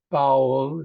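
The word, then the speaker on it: Baul: poem I'll read is called bowel it's spelled b a l that's the name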